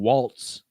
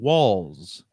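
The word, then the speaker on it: Walz: Tim Walls whose name looks like Tim Waltz but is actually pronounced Tim Walls so this name Walter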